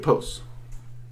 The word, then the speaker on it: Ipos: um I post okay I've always heard it pronounced I post I have heard a few people pronounced it posts um I've tried that pronunciation and ritual um I didn't get good results but but but I have to admit that's probably because it didn't flow very well well linguistically with me um I post just seems to flow better for me pronunciation wise and that flow can